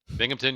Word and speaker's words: Binghamton: Binghamton, New York. Did I pronounce that right? Binghamton, yes.